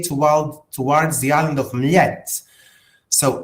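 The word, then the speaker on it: Mljet: morning and we say towards the island of Miet. So M L T Americans like to call it Muljet but the pronunciation is Mette.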